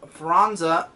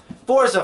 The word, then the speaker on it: Forza: not expect that huh you want to call franza forza 5. i i love how i was practicing the how to say this the whole time and i was saying don't say franza don't say franza love